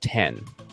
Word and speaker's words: X: was a iPhone 10 it's pronounced 10 by the way not X for anybody if you dis if you think it's pronounced x i i i don't know how to tell you this it's Roman numeral 10 it's not it's not